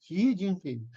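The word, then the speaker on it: Xi Jinping: Mark Francis, how do I correctly pronounce his name? Xiinping.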